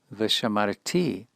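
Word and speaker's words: ושמרתי: And now the apodosis, beginning with a vav conversive v'katal, v'shamarti otam, v'shamarti otam. Incidentally, notice this is a first common singular, and the accent is on the final syllable.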